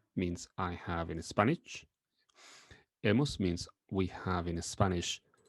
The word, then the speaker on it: hemos: Notice that we don't pronounce the H in the middle. Another example is E. E. Hemos.